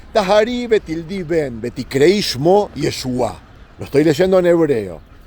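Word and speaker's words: ישוע: Lo quieren llamar en hebreo Yeshua, con acento en la A, porque estoy seguro de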